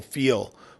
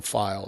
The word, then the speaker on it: Feil: And Michael Feel was our File. It's Michael File is how it's pronounced.